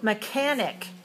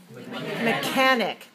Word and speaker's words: mechanic: right how about this mechanic mechanic now pay attention to the difference between mechanic and you notice that the CH letters make the same sound as a K